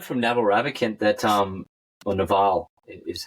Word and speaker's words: Naval: Well, I learned from Naval Ravikant that, or Naval is how you pronounce his first name, I think, that an oversubscribed or an overscheduled life is no life at all.